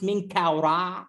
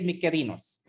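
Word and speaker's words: Menkaure: was that's the thing the greek historians when they came to egypt they said oh we can't pronounce ming kaura mean kawara so we're going to just say micarinos and it is the name of this pyramid now but the right pronunciation which i will stick with when you guys are with me here in february is the ancient egyptian language which is hieroglyphics hieroglyphics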